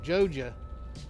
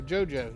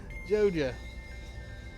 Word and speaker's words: Joja: Yo, Joja. Or Jojo, yeah. Joja, yeah. I said it right the first time. Joja.